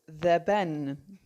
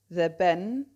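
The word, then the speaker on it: dhe ben: u g h at the end of is the ben That's d h e b e n and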